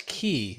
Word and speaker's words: Qi: I believe that's Key. Isn't it Key certified? Oh, is it Key? Yeah, the QI is.